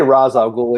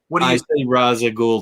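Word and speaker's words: Ra's al Ghul: demon's head for example i say raz al ghul even though i know it's rage raza ghoul too okay i call it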